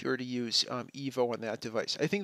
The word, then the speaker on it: 1V0: The EVO system pronounced like the Bulgarian name EVO.